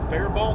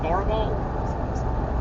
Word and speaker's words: Faribault: But the one near Faribault, I think is how you say that, Faribault.